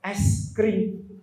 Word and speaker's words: es krim: Pak Kiai, itu bacanya bukan ayisun karimun, itu bacanya es krim. Karena kita bacanya baca ala kitab, padahal itu ejaannya es krim.